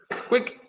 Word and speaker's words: quick: Recuerda, quick, una sílaba. No es quick. No es QI. No es cuico tampoco.